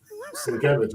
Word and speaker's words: Sienkiewicz: Well, I can start mispronouncing stuff like Candace Owen does, McGibre or something like Bill Sienkiewicz or Bill Sienkiewicz? Or Sienkiewicz? Sienkiewicz, I think it is.